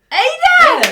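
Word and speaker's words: Aida: Ada!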